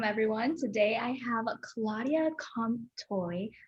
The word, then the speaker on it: Comtois: Today I have Claudia Comtois. Is that how you pronounce it? Comtois. Yes, it's French. Comtois.